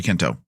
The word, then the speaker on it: Quinto: work I'm gonna say Zachary Quinto because that's how you say it right yeah Kinto yeah Kinto as far as I know yes yes right I